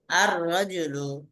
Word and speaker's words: الرجل: লামের উচ্চারণ হবে কি হবে না? লামের উচ্চারণ হ্যাঁ, হবে আদা হবে না। উচ্চারণ আর রজুলু হবে না। লামের উচ্চারণ হয় না।